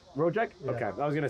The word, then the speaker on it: Rojek: so we have and how do you pronounce your last name again uh rojak rojak okay i was gonna say yeah so i'm